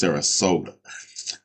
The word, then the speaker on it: Sarasota: right Sarat Sarasota Florida I think I pronounced it incorrectly in the video but it's Sarasota not Saratoga um so understand this